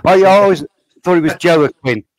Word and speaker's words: Joaquin: Sorry, I always thought it was Joaquin. Joaquin. That's how you spell it. Joaquin. Joaquin. J is like a Y.